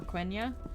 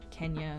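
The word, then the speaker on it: Quenya: portions of sindarin or kuenya and or kenya some people say it i i've heard the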